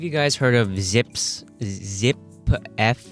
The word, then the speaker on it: Zipf: Zip F? I don't know how you pronounce it. Zip. It's spelled ZIPF. Zipf's Law.